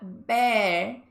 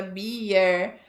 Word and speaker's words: bear: tá funcionando suavemente ok é a palavra Bear que muita gente pronuncia errado e fala a cerveja Bier ou Fala Bia mas o animal eu